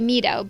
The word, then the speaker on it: Mido: i end up going is it mito or mido i know because japanese would be mido but you said mido that's why i followed